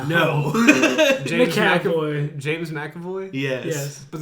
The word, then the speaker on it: McAvoy: played by uh james mcavoy also split is that how you say his name no jake james mcavoy yes but there's not a mac it's just an emcee yeah but he's